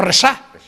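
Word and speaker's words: Rexach: Y bueno, los del fútbol, que fue del Barça, que fue entrenador, que se llamaba Resá. Con X y se pronunciaba así, esa SH.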